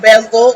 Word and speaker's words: Bezelled: So it is named Bezel, that's how you pronounce it, and please check me out.